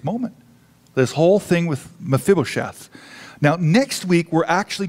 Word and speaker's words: Mephibosheth: say most people chef I'm probably going to mispronounce it many times but it's mephibosheth yeah no that's it